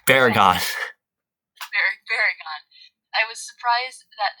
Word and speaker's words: Baragon: Please pronounce these. And It's Baragon.